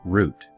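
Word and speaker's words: רות: in Biblical Hebrew for Ruth pronounced as root and scholars cannot agree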